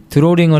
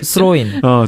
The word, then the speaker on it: 스로인: 드로링을 해야 되는데 상대편 너 발음 이상해. 스로인.